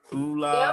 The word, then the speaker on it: ULA: Did I pronounce that right? ULA.